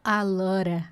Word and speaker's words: a lot of: É pronunciar o a lot of como a lora. Se a palavra seguinte for um sonzinho de consoante, a tendência é isso acontecer.